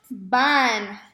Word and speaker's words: van: So ellos van, V-A-N, pronounced like a van, but because it's Spanish, the V is pronounced as a B.